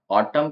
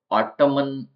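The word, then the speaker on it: autumn: इसके अंदर नेक्स्ट है एन साइलेंट ऑटम ऑटम के अंदर लास्ट में एन लिखा हुआ है तो इसको ऑटोमन ऑटोमन नम इस तरीके से नहीं बोलेंगे ऑटम बोलेंगे और एन स्पेलिंग के अंदर है बट बोला नहीं जाता है इसका मतलब होता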